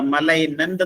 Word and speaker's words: malignant: മലൈനന്റ്, അതിന്റെ സ്പെല്ലിംഗ് ശ്രദ്ധിക്കുക. MALIGNANT. എന്താ മലൈനന്റ് എന്നാണ് ഉച്ചരിക്കുന്നത്? മലൈനന്റ്. മലൈനന്റ് എന്ന് പറഞ്ഞാൽ ഉഗ്രമായ അല്ലെങ്കിൽ അപായകരമായ, പേടിപ്പെടുത്തുന്ന, വിറൂലന്റ് ഓർ ഹാംഫുൾ.